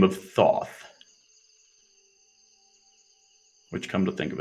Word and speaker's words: Thoth: A being by the name of Thoth. Which, come to think of it, now that I'm really thinking about it, I think in Egyptian it's pronounced tote, but let's fuck it.